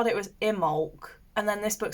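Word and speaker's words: Imbolc: and then this book says it's IM bulk and you say the be but I thought it was a silent be so if you are pagan or Celtic how do you pronounce it cuz I say imul but apparently it is actually imul so I'm like oh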